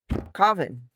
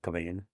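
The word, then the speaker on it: Cauvin: freaking JL Coven Coven I always say his name wrong Coain is it Coain Coain oh okay I didn't think it was pronounced that way from spelling no I think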